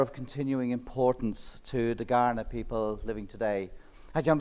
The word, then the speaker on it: Kaurna: continuing importance to the Kaurna people living today. Actually, I'm very intrigued that it's with a K but pronounced G.